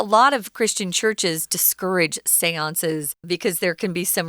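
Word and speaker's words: séance: sisters held a seance it's kind of a weird word it's also french that's how it's pronounced seance i know they still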